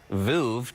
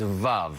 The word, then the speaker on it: Veuve: And I even used to say Veuve. Does that drive you crazy when people... Is it like nails on the chalkboard? And give us the exact pronunciation. It's Veuve, right? Rhymes with love.